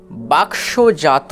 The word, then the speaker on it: বাক্স: আকারের সাথে উচ্চারিত হবে তাহলে হবে বাক বাক এরপরে জন্তুস তাহলে হলো বাক স বাক স এরপরে বর্গীয় জয় আকার